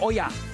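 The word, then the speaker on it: olla: the serving dish it's it's oya in Spanish It's oya That's why it's lauya it's actually Spanish container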